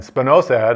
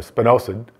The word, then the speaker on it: spinosad: And spinosad, or spinosad, depending on how you want to pronounce it, is organically labeled and